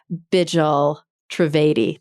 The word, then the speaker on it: Bijal Trivedi: Patients and Families Who Changed Medicine Forever by Bijal Trivedi.